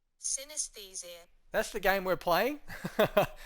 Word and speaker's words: Synesthesia: Now, it's a bit of a hard one to pronounce, so I had our Google, do it for me. Ready? Here we go. Synesthesia. Synesthesia.